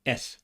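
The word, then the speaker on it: אֶת: Also, this direct object marker is pronounced et in modern Hebrew, but es in biblical Hebrew.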